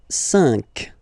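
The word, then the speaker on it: cinq: So you've got this C but then the sound that you will pronounce is ka. Okay. Catra. All right. And next sank.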